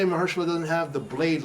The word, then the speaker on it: Mahershala: Isn't Marshmallow supposed to play Blade? Yeah, Mahershala.